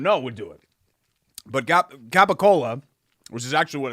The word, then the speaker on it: capicola: What's gabagool? Cool. You can say it like that. People will laugh at you. It's like saying... What is it? What is it again? Gabagool. What is that? Capicola.